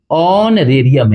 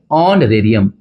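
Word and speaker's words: honorarium: ए से शुरू है तो एन लगेगा बच्चों आगे देखिए यहां पे ऑनरेरियम ये नहीं है। ये ऑनरेरियम है। क्या है? ऑनरेरियम। यहां पे एच साइलेंट है।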